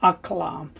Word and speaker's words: aklam: But we can apply the Kamatz grammar rule above, which gives us a short O sound in a closed, unaccented first syllable usually. So therefore we'll apply it here. Aklam. I mean, it doesn't sound much different than akalam, but it tends to be aklam.